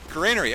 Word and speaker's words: Granary: say it like that stop telling me to say Granary you're wrong you're not wrong but you're not you're not the only one who's right we put it that way you can pronounce it both ways it's not wrong granery okay it's a